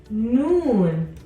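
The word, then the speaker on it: نون: Mike from Monsters Inc noon noon noon makes a sound no no this is the same as your n letter n Sound in English our next letter is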